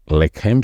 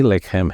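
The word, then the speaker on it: לחם: बेत लेहम बोलते हैं ह का उच्चारण भी आपको गले में पीछे गहराई से लेने का है तो वह हो जाता है बेतले हेम तो यहां पर भी वही लेकम है और लेकम यानी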